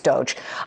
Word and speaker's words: Doge: that he mispronounced doge it's not dodge it's doge um doesn't what happened